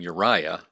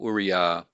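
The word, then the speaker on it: אוּרִיָּה: here's an interesting one so we have uriah this is the name uriah this dot here is part of the vowel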